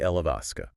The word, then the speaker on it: Alaska: Okay. Alaska. Three syllables. Stress on the second. A. Alaska. Alisa.